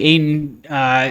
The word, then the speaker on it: Ayton: Does it rhyme with PA? PA? Yeah. No. So it's not DeAndre Ayton? It is Ayton.